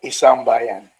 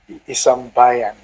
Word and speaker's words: 1Sambayan: politics and most especially first of all it's pronounced as isam bayan yes i'm that's how you pronounce it the